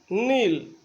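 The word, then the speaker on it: know: यानी एन के पहले यदि के हो तो साइलेंट रहता है, ये ध्यान रखें।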